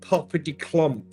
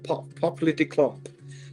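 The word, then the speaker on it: Porsche Doppelkupplung: I love it's called Popper de Klomp. That's how you say it in German. Popper de Klomp.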